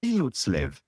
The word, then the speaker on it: friluftsliv: So how do you go about pronouncing this Norwegian word? Friluftsliv. It's how it's pronounced, correct?